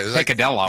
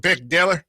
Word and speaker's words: picadillo: That's what she said, but I don't think she pronounced it that way. Pikachu. Yeah. Picadillo. Yeah, it's King. It has a Cuban picadillo.